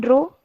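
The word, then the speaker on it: ρ: As you see here, the symbol, it can be pronounced as row.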